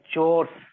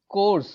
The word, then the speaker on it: chores: Chores. Yeah, exactly. You said course.